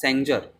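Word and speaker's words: Sanger: इसमें आपके पास सबसे पहला जो मेथड है वो है आपके पास सेंजर। इसको सेंजर भी बोलते हैं और इसका प्रोनाउंसिएशन सेंगर भी होता है ना। तो मैं इसको सेंजर ही प्रोनाउंस करूँगा, सेंजर्स मेथड।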